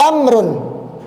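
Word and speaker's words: عمرو: Jadi kalau antum dapati seperti ini, ada wau-nya, ain, mim, ra. Kemudian ada wau, berarti bacanya Amrun, ya, Amar, Amrun. Tapi kalau enggak ada wau-nya, antum baca apa? U Umar.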